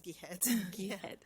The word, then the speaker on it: Jihad: The next person we have speaking is uh Jihad Abdel Hafes and please correct me if I said your name so we pronounce as Gad.